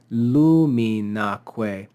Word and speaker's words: luminaque: But when we stick this enclitic onto it and say luminaque, we add an accent to the last syllable of the word.